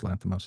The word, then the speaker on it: Lanthimos: Am I pronouncing his name right? Yorgos Yorgos. Lanthimos.